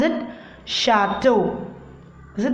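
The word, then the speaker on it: château: How to pronounce it? Chateau.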